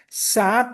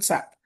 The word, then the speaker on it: SAP: So never ever pronounce it as in sap. The first correction need to be pronounced it as a s a p. It's an it's not a word. It's an abbreviation.